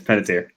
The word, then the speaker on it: Panettiere: That's not Panettiere? No. I think it's just Panettiere. Yeah, it's Panettiere.